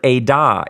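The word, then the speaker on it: עדה: But the word here is the word edah, E-D-A-H.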